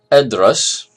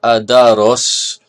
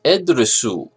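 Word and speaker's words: أدرس: Edras. You notice it has two syllables. Edras. Why? That's because it has a sukun, huna, over this letter. It is not adaros, it's edras.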